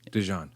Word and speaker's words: DeJohn: It said how it's spelled. Yes, DeJohn.